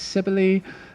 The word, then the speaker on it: Cybele: I'm just going to say there's a lot of different pronunciations of Kaibala. I'm going to use Kaibala. It's often anglicised as Cybele, and if I had Greek, I would be able to pronounce it a lot better for you, but I can't. So I'm going to go with Kaibala.